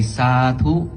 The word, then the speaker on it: Sadhu: Then after the blessing, our tradition needs to say Sadhu, Sadhu, Sadhu. Sadhu is S-A-D-H-U. That's what it's spelled, S-A-D-H-U.